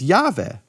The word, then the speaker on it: Jahve: 700 years later, that the Samaritans pronounce God's name as Jahve.